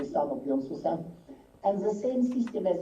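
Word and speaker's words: 산업연수생: Basically, the Japanese Sangyoken Susei were renamed, in Korean pronunciation is going to be Sanok Yonsusen, and the same system as in Japan was introduced in Korea.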